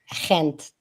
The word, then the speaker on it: Gent: We went to Antwor Brussels Gent Yent is how is that is that how it's pronounced? Kent.